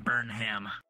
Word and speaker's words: Burnham: you can call me Burnham it's my last name burn oh burn ham is in Burnham burn oh burn ham I see I see that's how I pronounce it Burnham I've seen people at